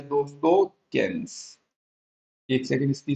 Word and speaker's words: Keynes: और यहां पे आ जाता है दोस्तों केन्स। एक सेकंड, इसकी स्पेलिंग सही लिख देता हूं मैं, KEYNES, केन्स।